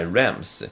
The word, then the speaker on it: lambs: Feed my lambs, 나의 양들을 먹일 거라. 여기서 비가 묵음이 돼서 램부스가 아니라 램이 되는 겁니다.